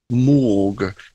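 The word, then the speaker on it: maugre: word actually this one I'm not quite sure of the pronouncing but it's morgue m-a-u-g-r-e which simply means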